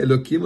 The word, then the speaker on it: Elokim: Elokim. God manifesting himself in the name of Elokim. We say Elokim, although it's with a hey, but we don't pronounce it out of respect for God's name.